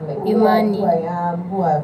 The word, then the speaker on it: Imani: Yeah, I I have a friend by the name Amani, but now yours is E, Imani.